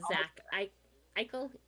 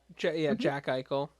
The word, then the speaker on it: Jack Eichel: For Vegas, we have Zach Eichel. Jack Eichel. Did I say Yak? You said Zach. It's like, it's a fucking J. Definitely a J. He's American.